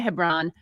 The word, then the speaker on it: Hebron: Yeah, Hebron.